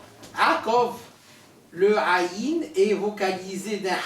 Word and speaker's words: Yaakov: C'est Yaakov. Il y a 2 syllabes. Sous le yud, il y a le patah, c'est la voyelle brève. Donc, Yaakov.